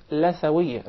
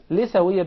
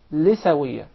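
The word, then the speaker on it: لثوية: It is commonly mispronounced. Some people will call it lathawiyya. Rather, in Arabic it is called lithawiyya because we call the gum litha. Yes. So that's why it is proper to say lithawiyya.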